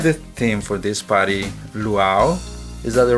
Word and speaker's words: luau: well we decid the theme for this party luau is that the right pronunciation right yeah which is a party from